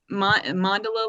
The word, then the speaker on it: mandala: Center you want to spell that mandala like Gondola okay yeah okay but